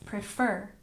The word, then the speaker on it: prefer: go back and check pronunciation prefer we stress the second syllable prefer prefer shout we have